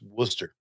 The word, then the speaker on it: Worcester: to tell you, explain to you how to pronounce Worcester.